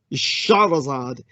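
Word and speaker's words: Shahrazad: west as shay harazati her real name would be shaha razad and as for shah razad being even more accurate the shah razad that would be the more poetic arabic pronunciation of her name uh this is something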